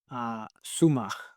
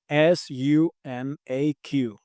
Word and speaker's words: sumaq: If I'm not wrong, is Sumach. Suma. Sum. So it's Sumaq. The Q letter at the end is pronounced as You know that sound, sumach. Suma. Perfect, like a G at the end, right?